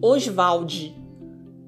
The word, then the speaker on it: Oswald: um nome, na verdade, ele gostava de pronunciar o nome Oswald, dessa maneira, Oswald de Andrade.